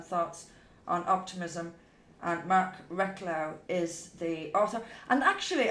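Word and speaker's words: Reklau: And Mark Recklow is the author. And actually, I've picked up a few of his books lately. They're excellent. It's Recklow is pronounced, or spelled R-E-K-L-A-U.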